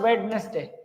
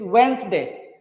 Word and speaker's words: Wednesday: It is not wetness day. It's Wednesday. It's Wednesday. D is complete soft.